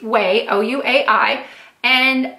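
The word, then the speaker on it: Ouai: talk about way yes it's pronounced way oh you a I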